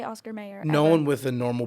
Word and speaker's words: Oscar Mayer: I'm when I spell it and when I say it, I'm still going to say Oscar Mayer, Meyer. It is actually spelled Mayer.